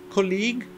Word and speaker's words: colleague: tá próximo col colle mais uma palavra terminada em e inclusive que você não pronuncia aqui a trans interação né no alfabeto fonético você vê que não pronuncia colleague é o teu colega